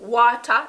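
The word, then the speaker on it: wata: So if a Jamaican say to you water, you know they just want some water. Water, water, water, water. Jamaicans never say water. It's always water. Water. W-A-T-A, water.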